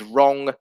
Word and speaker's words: wrong: example of this is the silent w in words such as wrong and right which are pronounced as if the w does not exist so this is uh